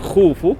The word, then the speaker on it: Khufu: So for Kha in Khufu in this pyramid, it was hard for them to pronunciate. So they replaced Kha in Khufu, the name of the owner of this pyramid, with CH. So Kha replaced Kha letter with CH, and then add OS like Greek name. So they pronunciate it Khufu by Cheops.